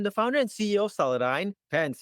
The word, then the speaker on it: Celadyne: founder and CEO of saladine Pence if you go to France you might pronounce the company name as saladine but saladine and full name is saladine